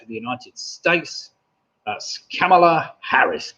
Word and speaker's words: Kamala: the united states that's kamala harris kamala harris it's pronounced camella apparently the news networks were